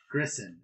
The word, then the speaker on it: Grissom: Grissom. It's like Griffin with an S instead of an F. It's not that difficult to pronounce.